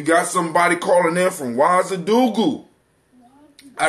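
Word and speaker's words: Ouagadougou: All right, somebody, we got, we got somebody calling in from Wazadugu.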